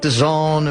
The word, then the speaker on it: DAZN: I know I'm not with it in WoW, but it's spelled the zone, but it doesn't really look like the zone. But that's what how you're supposed to pronounce it, correct?